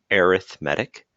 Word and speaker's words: arithmetic: talk about is arithmetic sequences that were just pronounced arithmetic um if there was an a here that's arithmetic but we're looking at arithmetic the adjective form